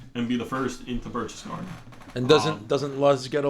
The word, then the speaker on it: Berchtesgaden: Berchtesgaden. Yep. Okay, I was going to pronounce it wrong, which we do a lot.